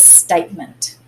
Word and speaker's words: statement: So this first word is statement. Statement. Statement. We actually accent the state bit because we don't say statement, we say statement.